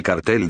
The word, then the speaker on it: cártel: El Cartel de Cali o Cártel de Cali, pronunciación según dialecto del castellano, fue el nombre dado